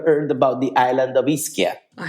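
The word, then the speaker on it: Ischia: Have you ever heard about the island of Isaia? I have. I have. It's beautiful. See many people misspell it calling it isia, but it's definitely one of the most thermal islands in Italy.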